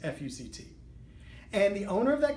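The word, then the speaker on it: FUCT: It actually regards a clothing line that consists of clothing with the letters the word F-U-C-T, pronounced F-U-C-T.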